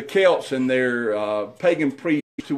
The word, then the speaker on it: Celts: I think I've been talking about the sales that's because that's the way it's spelled see elt but but they're actually the Celts and it's the Celts and their pagan priests